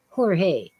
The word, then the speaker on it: Jorge: about or san yesinto the J is a hota it's h Jorge the G is kind of a H but nobody bothers with that they don't say Jorge